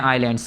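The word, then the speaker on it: island: ठीक है, ग्रुप है आइलैंड्स का, इसीलिए यहाँ पर एस यूज़ होता है, आइलैंड्स। बच्चे शुरू में क्या पढ़ते हैं, इजलैंड पढ़ते हैं, ये इजलैंड नहीं है, ये आइलैंड है, एस साइलेंट होता है।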